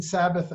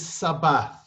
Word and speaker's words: Sabbath: And again, the last letters in the Sabbath, the TH, is the way that T in Hebrew used to be pronounced, like a th. But today it's mostly pronounced just with a T.